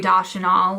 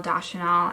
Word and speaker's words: Deschanel: In this video, I decided to fuck Zoe Deschanel, which I know I say her last name wrong, Deschanel.